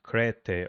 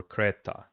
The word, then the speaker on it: Crete: It it should be um creed should be should be pronounced crete or creta depending on uh on the dialect on the Greek dialect.